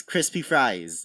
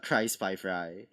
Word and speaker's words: Crispy Fries: It rolls off the tongue, and it's like, well, it's like it's Crispy Fries. It's not Cry Spy Fry, which does rhyme, and that works. It's just not how it's said.